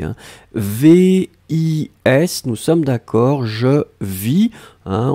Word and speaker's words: vis: VIS, nous sommes d'accord, je vis, hein, on ne prononce pas le S final.